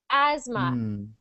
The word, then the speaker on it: asthma: Um don't worry that word is pronounced as if the th was not there. This is a very strange word. It sounds like this. Asma just as if there was no th. Asthma.